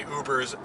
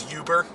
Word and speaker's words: Uber: he now he literally ubers yeah but he doesn't pronounce where he says Huber yeah all the folks say that I'm like dad it's uber ease I know no I'm sad Huber like that uber is